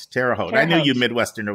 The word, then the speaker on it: Terre Haute: by the way always is it tara halter hot i always say it wrong terre haute i think terre haute i knew you midwestern